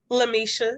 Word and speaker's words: Lamisha: Am I pronouncing it right when I say Lamisha? Lamisha, yes, Lamisha. Okay, I put an extra syllable in there.